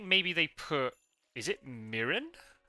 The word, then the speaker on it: mirin: yeah okay so yeah Japanese like the the vowel sounds are consistent a e e o so whenever you see I in Japanese it's always an e sound right so that's why English people say it incorrectly that makes a lot